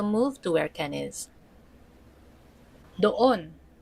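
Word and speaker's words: doon: have don means there far from the English dune. there. And lastly, we have don means there far from the speaker and far from the listener. Somewhere there over there, it's pronounced as don don.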